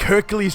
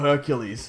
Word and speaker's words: Hercules: made me think that Hercules had a silent s in his name pronouncing it Hercule so when talking about him